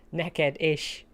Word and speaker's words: neked: Neked ish. Yep. That's pretty simple. It just sounds like naked-ish.